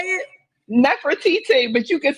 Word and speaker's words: Nefertiti: Nefertiti, but you can say TT or whatever.